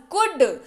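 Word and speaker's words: could: उसको पड़ते हैं कोड उच्चारण इसका होता है कुडेल जो है वह साइलेंट होता है इसका होता है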